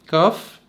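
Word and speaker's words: כף: كاف بتلاقي ان الصوت مفخم شوية عن اللغة العربية، مش كاف، كاف كاف.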